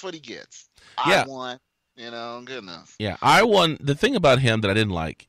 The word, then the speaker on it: Ion: column against now get this we called him Yan or I on last week but his name the correct pronunciation of his name is I won Kuta LA I won can you see that